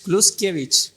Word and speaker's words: Kluczkiewicz: Kluskiewicz. La pronunciación correcta.